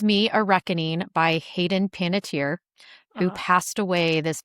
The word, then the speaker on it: Panettiere: Heroes in Nashville star Hayden Panettiere, which that's how she pronounces it. Apparently that's Oh, not the correct pronunciation, and her grandfather hated that she changed it to that pronunciation.